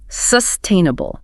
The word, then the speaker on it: sustainable: The stress falls squarely on the second syllable. Sustainable.